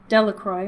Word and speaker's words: Delacroix: Jones and Dickie Delacroix the villagers pronounced his name Delacroix which I just did I guess it's dellacroix eventually made a great